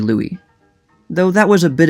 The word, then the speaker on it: Louis: associated with new orleans many people just assumed that his name was pronounced louis he became a symbol of the city however armstrong did not grow up in the more heavily french-influenced district but rather the poorest section of town that contained the more earthy things like honky tonks and prostitutes armstrong wrote in 1944 that only white people call me louie though that was a